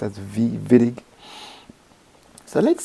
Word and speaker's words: Wittig: who discovered this reaction i think it's a german name so it's pronounced as v-vitig so let's say you